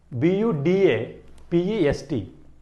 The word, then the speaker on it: Budapest: So here U was assigned the sound of long vowel U.